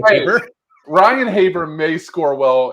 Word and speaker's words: Heber: But like I've owned a Haber. Is that Heber? Is that how you say it? Is it Haber? Haber? Yeah, you know the NYC guy, Heber.